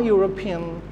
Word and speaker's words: European: So the word pronounced like EU. So if a word pronounced like EU, we'll put a instead of an. So a European called at my office.